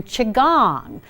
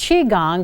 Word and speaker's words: qigong: going to be practicing chi gong now it's pronounced chi gong but it's spelled Qi ji Ong chi gong